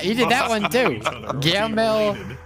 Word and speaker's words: Guillermo: Horilamo Eastclough. He did that. He did that one too. Guillermo Estafi is how it's spelled. Guillermo Estafi, but no, it's Horilamo Eastclough.